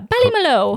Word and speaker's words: Ballymaloe: Ballymaloe? Yeah, Ballymaloe. Ballymaloe You Cookeries.